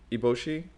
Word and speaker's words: Eboshi: Eboshi.